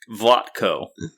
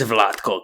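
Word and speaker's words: Vlatko: no let them vlot vatco it's vatco canar he's Slovenian so C andc and he has like a little upside down triangle over both the Seas if you know what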